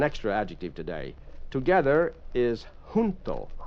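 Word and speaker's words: junto: together is hunto. Hunto j u n t o. Remember the Spanish j has an h sound. You breathe on it.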